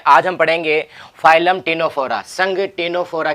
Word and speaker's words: Ctenophora: जो टिनो वर्ड है, ठीक है, इसमें सी है, ये साइलेंट रहेगा।